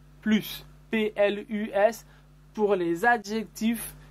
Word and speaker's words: plus: aussi fait attention remarquez on ne prononce pas le s de plus plus pl us pour les